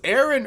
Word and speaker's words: Aaron: he's like no it's Aaron earnest I know the correct Baltimore the correct Baltimore pronunciation that is earn earned and earn earn